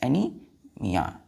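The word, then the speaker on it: anaemia: एम आई ए एनी क्या पढ़ते हैं इसको एनी एनी ए साइलेंट हो जाता है यहां से एनीमिया एनीमिया क्लियर है तो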